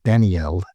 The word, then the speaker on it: Daniel: So let's give a little background on Daniel or Danielle as it would have pron been pronounced originally.